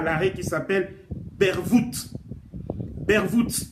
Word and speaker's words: Bervoet: Bervoet, je vais le prononcer en néerlandais parce que c'est en néerlandais. Bervoet.